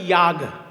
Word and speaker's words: যাগ: যাগযজ্ঞ আমরা বলি না, আমরা বাঙালিরা বলি যাগযজ্ঞ, আসলে বাঙালি তো ওই জন্য যাগ বলি, সেটার সংস্কৃত উচ্চারণ হচ্ছে ইয়াগ।